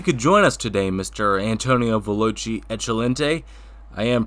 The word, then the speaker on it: Antonio Veloce Eccellente: Antonio Veloce Eccellente. I am pronouncing that right, aren't I?